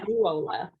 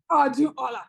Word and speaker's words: Odunola: Oduola. Odunola. Yes. you do. Oduola. Okay. Yeah. So the N is silent in my name.